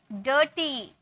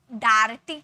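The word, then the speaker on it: dirty: में लिख दिया बर्ड डर्टी अब ऐसे बोले क्या डा डार्टी बोले क्या डायटी बोले क्या नहीं इसे अ में प्रोनाउंस कि डर्टी सर्ट फम चप ठीक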